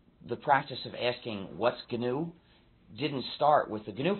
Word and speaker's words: GNU: the correct pronunciation is gnu so please pronounce a hard G if you talk about